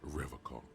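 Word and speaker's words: Revachol: He pronounces Revol with a hard K, unlike other people.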